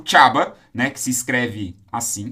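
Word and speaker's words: Csaba: Drácula e a Transilvânia como Hulk, porque o Chaba, né, que se escreve assim, caso você queira procurar, Chaba, C-S-A-B-A.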